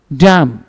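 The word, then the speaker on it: dumb: haven dot है ना इस तरह से बी को साइलेंट करेंगे जो एम के बाद हो और टी के पहले हो डम हिज डम इन डम ब का जोर से उच्चारण नहीं करना टम टम नहीं काम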